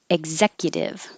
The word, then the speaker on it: executive: in lid literally literally executive egg this eg could be ek because um ex is really x but it could also be eggs exit because my voice is coming on for the z so you're going up